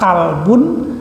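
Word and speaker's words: كلبٌ: banyak yang memiliki kemiripan seperti kata kalbun dan kolbun. Kalbun itu pakai huruf kaf ya, kaf lam ba, kalbun artinya anjing. Kalau huruf kafnya diganti dengan qaf, kolbun itu berarti hati.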